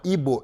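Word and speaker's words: Igbo: da nigéria que chama hbo hbo hbo assim que se pronuncia existem usos é que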